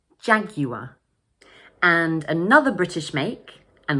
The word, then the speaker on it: Jaguar: Notice that, like in the previous example, the final R is pronounced as a schwa, So we pronounce it jaguar, jaguar.